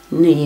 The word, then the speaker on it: knee: vikings brought a k then it's not so surprising that knee begins with k uh in scandinavian languages that k is pronounced but for us before an an n it's dropped i don't know why